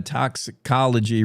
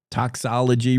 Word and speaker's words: toxicology: This uh story from Claire McFarland as she got a toxicology report. Toxology report.